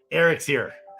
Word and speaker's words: EREXERE: Oh, Eric's here. That's how you pronounce EREXERE. Eric's here.